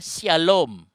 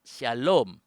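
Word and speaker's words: שָׁלוֹם: kanan 1.0 sebelah kiri yang di sebelah kanan bacanya Sin ada SY misalnya Syalom itu tulisannya Shalom pakai y saudara atau bahasa Inggris pakai hak Syalom nah lalu yang titiknya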